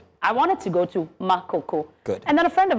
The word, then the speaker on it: Makoko: Say it right. Makoku. Good. I wanted to go to Makoko.